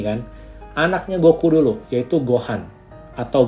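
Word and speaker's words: ご飯: ketika dia jatuh, pesawat sayanya jatuh ke bumi dan ditemukan oleh kakeknya namanya Son Gohan itu tadi.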